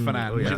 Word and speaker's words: Fernandes: It's pronounced Fernandes. Confirmed. Very nice Portuguese pronunciation.